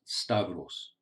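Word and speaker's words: σταυρός: there are two words the first word is pronounced stavros it comes from this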